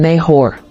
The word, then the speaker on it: Nahor: origin Hebrew naav meaning snora or to breathe pronunciation neor Bible verse Genesis 11:22 ESV when suuk had